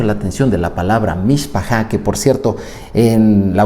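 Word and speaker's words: מִשְׁפָּחָה: La palabra es mishpachá.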